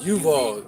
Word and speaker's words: Yuval: You gotta look up a guy named Yuval Noah. It's gonna piss you off, man. How you spell it? Yuval, yep, Y-U, not just like Duval. But Yuval. Noah with a Y.